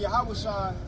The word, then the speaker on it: Yahawashi: after Moses him and Yahawashi or how to say his name in the Hebrew it would be Yahawashi him and our law